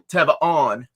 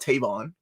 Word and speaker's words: Tevon: Tevon, not Tavon, by the way. I know how to say the man's name now.